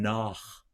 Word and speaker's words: nach: Sich would be that forward CH, and nach would be the back CH. That's a great little pair there. Let's do those again. Meine Seele verlanget und sehnet sich nach.